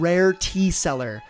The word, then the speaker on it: Rare Tea Cellar: Roderick Marcus is the founder and CEO of Rare Tea Cellar, which is spelled like wine cellar, not like a salesperson.